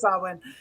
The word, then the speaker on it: Samhain: Yeah, it is Samhain, but I always say Samhain in my head. But it is Samhain.